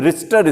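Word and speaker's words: Richter: है RIT होता है, तो कभी कभी टी साइलेंट हो जाता है ना, उसको रिचर ही बोलते हैं, रिचटर स्केल ऐसे बोलते हैं, रिचटर स्केल।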